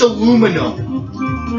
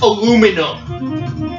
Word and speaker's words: aluminum: people for for the love of god it's pronounced aluminum okay british people it's pronounced aluminum learn to speak some proper english for christ's